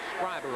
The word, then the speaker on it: Schreiber: I had said that Spencer Schreiber is his name, the correct pronunciation, Spencer Schreiber of Maryland.